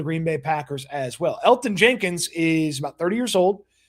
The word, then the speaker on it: Elgton Jenkins: about a name like Elton Jenkins. Now, I know there's a G in his name. The G is silent. Elton Jenkins is his name.